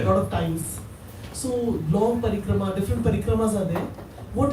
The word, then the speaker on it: parikrama: Well, parikrama is to, thank you for pronouncing it correctly. Everybody says parikram. We went to parikram. Kram means a schedule of hard work, so parikram means a big schedule of hard work. But the long A it's a long A in the end. You can't drop it.